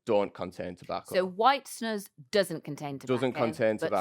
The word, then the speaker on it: snus: Now, Lewis, first of all, is it white snooze? How do you say it? All right. I've been saying snus, and everyone I've spoken to so far has said snus, but quite often I